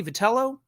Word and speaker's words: Vitello: Look, I think it was Joe Madden talking to San Francisco radio about, is it Tony Vitello getting hired with the Giants?